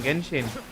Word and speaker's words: Genshin: It is pronounced Genshin or Genshin? Genshin. आप gate बोलते हो कि जेट बोलते? गेट बोलते हो ना. इट इज गेंशिन.